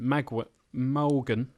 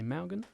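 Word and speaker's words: Mawgan: Malgan. We have some great pronunciations. M-A-W-G-A-N. We're struggling more with that than the French town or the Vietnamese. Malgan. M-A-W-J-N. Say Malgan? I still say that's Morgan. Morgan.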